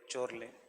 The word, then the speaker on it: Chorley: According to Chorley, Richard कोरले, चोरले, ऐसे चोरले क्योंकि स्पेलिंग याद रखना बहुत आसान है.